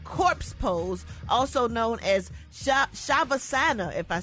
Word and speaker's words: shavasana: was performing The Corpse pose also known as shavasana if I said it right cat s-h-a-v-a-s-a-n-a and